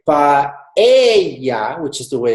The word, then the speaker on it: paella: It's never paella. It's it's paella. That's right. It's having the Y.